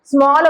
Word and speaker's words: small: मतलब अगर कोई वर्ड है जिसमें ए लिखा है और उसके तुरंत बाद डबल एल है तो आप उसको ऑ प्रोनाउंसिएट कर रहे हैं, और जैसे ALL ऑल हो जाता है, SMALL स्मॉल हो जाता है, CALL कॉल हो जाता है, और FALL फॉल हो जाता है।